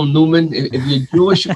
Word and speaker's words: Neumann: new ethic by Eric is it Newman or nyman I don't know um I used to pronounce Newman all my life and then I went to a workshop once and the guy there said nyman so yeah I guess